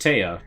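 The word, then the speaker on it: Te'a: goliath's name t e apostrophe a so it's pronounced tea but looking at it it looks like he's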